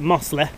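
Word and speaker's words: Mossley: mo mosley hill that's how you say it muslim uh and then we're uh off back of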